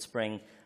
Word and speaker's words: Xspring: It's spelled with an X, but it's called Spring, which you're trying to get developers onto it.